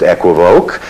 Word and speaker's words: equivoque: The word in French is pronounced equivoque, so equivoque is obviously wrong, but since it is being used in the context of a magician's secret terminology, I rather like the fact that it's pronounced wrong, because that tells you